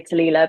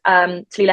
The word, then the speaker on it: Talilla: No one can ever say Talilla, but it's spelled Tallilla, and then.